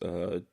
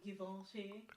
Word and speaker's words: Givenchy: To pronounce it the way it's supposed to be pronounced, that's the name. Givenchy. It's not Givenchy.